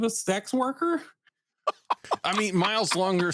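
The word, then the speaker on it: Myles Lawnger: And it's spelled not how you would think it's spelled. It's MYLES and then space and then LAWNGER because he's got a 30 literacy. I love it. Longer. Miles Longer.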